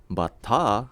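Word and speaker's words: バッター: Batta, with an elongated A sound at the end, means batter, as in a baseball batter.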